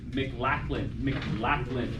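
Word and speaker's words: McLachlin: This is by Beverly McLachlan.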